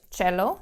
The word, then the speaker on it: cello: So, for example, let's take the Italian word cello, the instrument. And we also pronounce it cello because we take the foreign pronunciation into the German language.